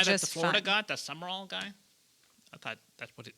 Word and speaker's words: Summerall: Also, why is John Summerall pronounced with 3 syllables? It's Summerall. Why is it Summerall?